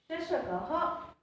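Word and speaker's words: शशकः: Here the 2 dots is called a visarg, that I have already explained in the Chitrapadani word, right? And it pronounced as ha. Shashakaha, Shrugalaha, Vanaraha, Sinhaha.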